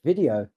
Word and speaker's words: Vidaio: It's video. You just say video the way you would have said it normally and then you spell it incorrectly with an AI in it.